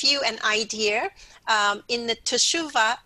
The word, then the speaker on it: Teshuvah: Okay, so actually the fall feast coincide with the what they call Teshuvah.